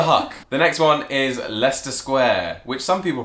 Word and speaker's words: Leicester Square: Yeah, I heard an American once be like, oh, we're going to Leicester Square. And I was like, no, it's Leicester Square. Leicester Square.